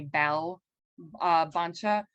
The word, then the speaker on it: Bvlbancha: are correct um bvl is uh the v uh represents the uh sound that's more traditional to many a number of southeastern languages but the u is fine and you might also see it spelled with an a bell bancha all are correct because all of them